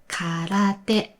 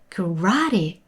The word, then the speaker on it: karate: So it's karate in Japanese. But if it's pronounced as an English word, it sounded like karate with a long vowel.